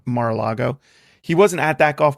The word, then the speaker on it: Mar-a-Lago: Mar-a-Lago? Yeah, Mar-a-Lago. Mar-a-Lago.